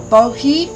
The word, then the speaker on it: boji: B-O-J-I, or bohi, if you don't pronounce the J.